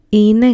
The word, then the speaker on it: είναι: Είναι γλυκό. Attention, we do not write είναι this way, but this is how we pronounce it.